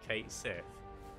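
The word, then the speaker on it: Cait Sith: Because they've confirmed that catchy is pronounced, I think, was it Kate Sith?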